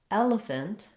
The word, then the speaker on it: elephant: In elephant and elegant, we stress on the first syllable.